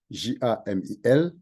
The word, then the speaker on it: Jamil: Jamil écrit comme cela se prononce, Jamil.